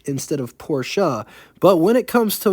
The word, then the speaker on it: Porsche: do people get so upset when someone says Porsche instead of porsa but when it comes to Willis more people